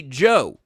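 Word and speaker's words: DJO: And, uh, Renee and I went to go see Joe, which is spelled DJ O.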